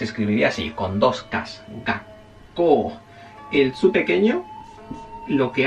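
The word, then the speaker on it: がっこう: El tsu se usa para hacer lo que llamamos la doble consonante, o sea, hacer el sonido, por ejemplo, colegio. ¿Alguien sabe cómo se dice colegio en japonés? Colegio en japonés se dice gakko, gakko.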